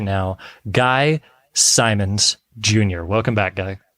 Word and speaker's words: Simons: Guy Simons Jr. Welcome back, Guy. How does he pronounce my name? Simmons? He says Simmons.